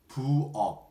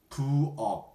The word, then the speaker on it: 부엌: Kitchen in Korean we say 부엌. 부엌. 부엌. The consonant is 키어, but we pronounce it as 기역.